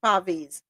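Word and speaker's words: Pavees: Minces or pavvis or is it pavis? P a ves. Pavis. Pavis. Okay.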